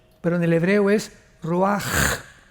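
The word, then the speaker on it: ruach: en el hebreo es Roach. La CH en el hebreo es como J, Roach, que significa espíritu.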